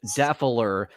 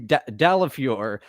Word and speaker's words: Dalafior: obviously Dalafior, but I think he now wants it to be pronounced Daffler because that's how Bob has said it for so long.